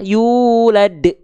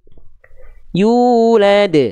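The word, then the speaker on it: يولد: sekalian terakhir boleh ya Jadi yang warna biru salah yulad yulad yang warna merah yang betul terakhir ya boleh sekali lagi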